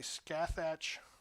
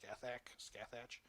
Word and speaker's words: Scathach: And then the 3rd Wraith Knight is actually a Scathach. Scathach? I don't know. Eldar players correct me if I'm wrong, but I'm pretty sure that's how it's pronounced. Scathach.